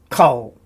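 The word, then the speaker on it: כֹּל: And it's a kamatz grammar rule. In an unaccented closed syllable, usually the first, it is said as an O, and that's why rather than an A, we say an O, kol.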